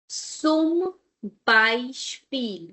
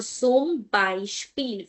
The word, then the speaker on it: zum Beispiel: After Z, we have a vowel, so we will have S sound, and then Beispiel. I both are here. So zum Beispiel, for example.